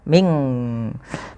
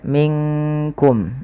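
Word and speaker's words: منكم: Dia nunnya samarkan ke qaf, bukan minkum. Tapi ya, maaf, bukan ming. Ya, tapi dia minkum.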